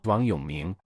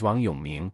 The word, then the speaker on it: 王永銘: displaying my Chinese name, Wang Yongming. As you saw on the video, my full name in Chinese is Wang Yongming, and its pronunciation is similar to want, you, me.